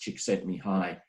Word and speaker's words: Csikszentmihalyi: By the way, this is pronounced Csikszentmihalyi.